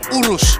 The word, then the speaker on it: Urus: Urus, not Urus, not Urus.